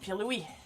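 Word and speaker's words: Pirlouit: Friendly reminder that in French, Peewit is written and pronounced Pee-Louis.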